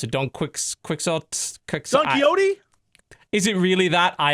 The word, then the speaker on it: Don Quixote: done I can never pronounce it don't quicks quicksort coyote is it really that I am that wow yeah Don Quixote there's and part is Napoleon in it and